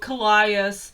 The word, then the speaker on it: Callias: Wait, she said how to pronounce it in the book, Callias. That sounds very American to me. I don't think the Greeks said it like that.